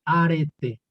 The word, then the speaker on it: arete: Es como arete en castellano, pero con el acento en la E, arete.